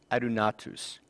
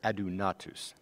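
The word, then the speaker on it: ἀδύνατος: impossible and the greek word for that is arunatus i'm sorry it's ado natus that's a little bit better pronunciation and this context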